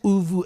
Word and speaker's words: Uvu: Is it called Uvu Accelerate? And if it is, what is it all about? So absolutely, you pronounced it perfectly.